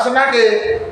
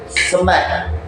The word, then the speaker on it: snake: Ditulis senake tapi cara mengucapkannya tidak senake. Snack. Snack. Senake menjadi snack. Jadi snake kemudian kita ucapkan snack.